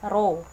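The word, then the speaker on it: rho: dari massa jenis nih ini banyak bukan p tapi roh er khao yeah dibacanya row kemudian m itu massa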